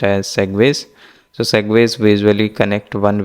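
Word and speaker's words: segue: So this is pronounced as segways.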